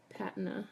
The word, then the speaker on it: patina: things that weren't taking the patina or patna if you're not in the United States because we like to pronounce things funny here so the 50-50 seem